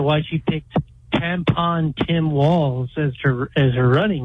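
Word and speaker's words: Walz: she picked tampon Tim Walls as her as her running mate uh it's ironic his last name rhymes with balls it sounds like he's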